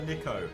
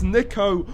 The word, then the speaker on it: Niko: It's Niko, not Niko.